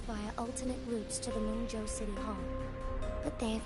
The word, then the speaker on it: Mengzhou: Moonjo. Mojo. That's how pronounced found hold of all places.